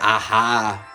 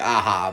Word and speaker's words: Aja: gonna mispronounce it alejandre aha aja it looks like aha because it's aja he's a really good